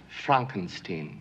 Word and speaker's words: Frankenstein: Pronounced Frankenstein.